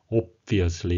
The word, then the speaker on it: obviously: 예, 발음에 주의하실 것은 예, 저도 이 비 발음을 거의 안 하고 obviously 이렇게 했는데 그게 아니고 예, 맷 행콕 장관이 발음한 대로 obviously 이렇게 되는데 입을 다물면서 비 발음하고 예, 띌 때는 예, 비 발음을 해서 예, 앞니와 예, 입술을 부딪히면서 예, 붙였다 띄는 그런 관계가 되겠습니다. Obviously 이렇게 좀 약간 강하게 발음해 주셔야 되겠습니다.